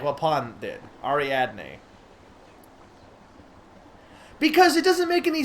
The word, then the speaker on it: Ariadne: Ariadne.